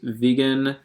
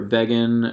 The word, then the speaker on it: Vegyn: today this is the artist vegan or beggin I believe he pronounces it as vegan though and this is